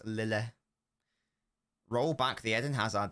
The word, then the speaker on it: Lille: That is how we pronounce it. It's not Lille, it's Lille.